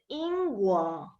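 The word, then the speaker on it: 英国: And it's pronounced as the Ingguo. Ing means hero, so I refer it to the country of heroes.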